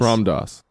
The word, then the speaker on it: Ram Dass: His name is spelled R-A-M-M. Mm-hmm. Last name D-A-S-S. Ram Dass. Yeah, I know him. I read that as rammed ass.